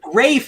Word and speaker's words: Ralph: it h-e-r-o damn it your name is rafe and you spell it like ralphie what are you doing